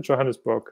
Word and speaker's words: Johannesburg: I did some research on the internet, and I found a course based in South Africa, actually, in Johannesburg. Is that how you pronounce it? Johannesburg.